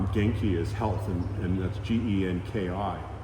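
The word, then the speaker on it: 元気: Like the word genki is health, and that's Genki. It's two Japanese characters, ki and It's pronounced Genki.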